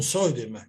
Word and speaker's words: Zuidema: Pero no hay prácticamente una palabra con John Rowe, y Tom Zuidema también, Tom Zuidema, que se pronunciaría así.